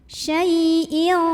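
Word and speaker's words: شيء: Syai' ada huruf lin karena ada ya sukun sebelumnya fathah, maka dibunyikannya cukup dilembutkan. Syai'in. Kemudian di sini ada ikhfa ab'ad karena ada tanwin kasrah bertemu dengan huruf qaf.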